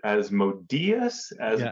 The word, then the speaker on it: Asmodeus: Is it Asmodeus? I'm not sure how you pronounce it. The accent's on the E.